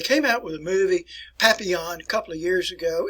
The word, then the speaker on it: Papillon: You probably pronounce it Papillon, but it's Papillon.